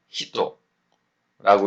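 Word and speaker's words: 人: 자, 여기서 지금 새로 나온 단어가 이 사람 인자를 히토라고 읽고요.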